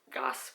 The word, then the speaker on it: Goss: know this is my first ever wing gosh Goss brush yeah that's how you say it um